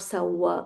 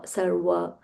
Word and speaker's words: sarva: It is not sa-wa. Sarva Sarva, the v should be uh audible and the r also sarva.